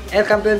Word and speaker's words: El Campeon: And then El Campeon, ay aliw naman, El Campeon Pigeon Feeds, yun ang tamang pronunciation mga kalapati.